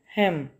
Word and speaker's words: hymn: Next है हेम, HYMN, हेम। हेम का मतलब होता है शक, जो हेम का मतलब होता है हमद, यानी कोई भी अल्लाह की तारीफ़ में कोई तारीफ़ी कलमात कहना, ठीक है, उसको हेम बोलते हैं, हेम। एन को प्रोनाउंस नहीं करेंगे, ठीक है। एन साइलेंट लेटर है, हेम, ठीक है।